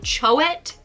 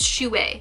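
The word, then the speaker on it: chouette: the Bandai figuart zero shoe way I recently learned how to pronounce that word um I've been calling them Choate and of course it's Chewie because you know it's a French word you gotta like roll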